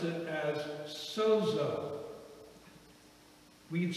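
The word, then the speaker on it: σῴζω: would pronounce it as sozo. We'd spell it S-O-Z-O. Sozo. If you had a friend named Zorro and you were greeting him one day, you might say, sozo, how you doing?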